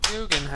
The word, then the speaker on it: Guggenheim: I pronounced the name correctly. Yeah, you did. Guggenheim.